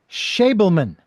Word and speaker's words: Schabelman: But it is Schabelman. Nailed it. Schabelman is my guest, and you are listening to Tell Me Your Story. We are talking with Schabelman here, Schabelman, if you will.